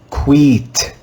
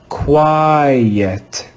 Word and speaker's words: quiet: with the sound e if we followed that rule for reading this word we would read this word like quit quit but that would be wrong this is another irregular word in this word the letter i is read with the long i sound let's read it together quiet quiet quiet this is another irregular